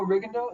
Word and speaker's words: Rigondeaux: And he also beat, was it Guillermo Rigondeaux? Is that how you say his name? Yeah, Rigondeaux.